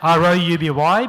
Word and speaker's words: Rouby: Of course, my name is R-O-U-B-Y because it's Rouby.